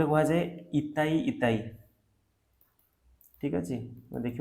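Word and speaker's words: itai-itai: हुई तो [गला साफ़ करने की आवाज़] जाए इताई इताई ठीक देख के प्रोनाउंस इताई इताई डिजीज ये कहा हुई कार्डमियम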